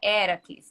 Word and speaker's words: Heracles: né mas o nome a pronúncia correta do nome do nome dele é do Herói grego seria heracles né E era quis né